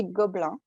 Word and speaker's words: Gobelins: pronounce it gopla i in french we say goblin in english we're trying to say goblins so i don't really